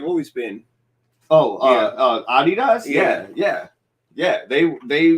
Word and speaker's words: Adidas: ADI yes yeah yeah that's that's why it's pronounced Adidas and not like Adidas and it does it's not an acronym for